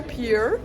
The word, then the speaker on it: pier: On va au Santa Monica Pier. Pierre. Parce qu'en fait, ça s'écrit P-I-E-R, mais on sait pas si on dit Pierre, pied ou Pier. Pier. Du coup, Si, on dit on dit Pier, au feeling.